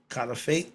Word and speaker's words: caliphate: I want to know what that was okay it's spelled c a l i p h a t e kif fate kif fat I just looked it up I